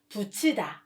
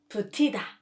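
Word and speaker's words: 붙이다: the right pronunciation becomes another good example is to attach patching in put and e are together so the right pronunciation becomes fuchsida not putida since the original form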